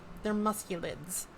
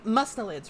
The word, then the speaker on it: mustelids: They're musculids. And mustelids, right? Not musk. I don't know why I thought it was with a C sound.